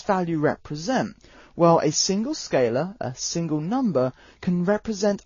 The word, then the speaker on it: scalar: to by a different name it's called a scalar which is spelt s c a l a r so it's a scalar but this is just